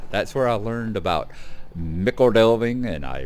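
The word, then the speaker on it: Michel Delving: As I said in the things, yes, I do understand that it is pronounced Mickle Delving, but being that I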